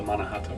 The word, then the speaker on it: Mannahatta: how do you pronounce the name of your project is it manahatta do i help you say it yeah i call it the manahata product i think you had